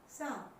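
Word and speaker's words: psalm: फिर पीछे हम कर चुके हैं कि ठीक एम से पहले एल आ जाए तो वो साइलेंट रहेगा। अब आप इसे इजीली रीड कर सकते हैं, दैट्स सम।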